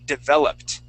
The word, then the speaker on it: developed: is going to be developed developed t and end uh d uh with the yes the Ed ending is a is a t developed okay so that Ed sounds like a t yeah yes okay developed